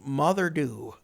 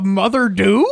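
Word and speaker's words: Moddey Dhoo: like like like Father think of it like father but with an F or with an M rather this sounds kind of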